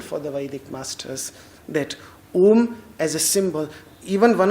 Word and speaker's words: Om: important behind the letter Om. And that is why pronouncing it as it's O nasal. One letter O in its nasal form.